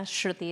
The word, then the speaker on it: Shruti: my name as well shruti shruthi is the way that my mom pronounces it she would fact check